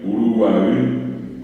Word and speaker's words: Uruguay: palabras y otras más ustedes tienen que acentuar siempre al final o sea sería Paraguay Uruguay bien pronunciado guaranía claro ya nuestro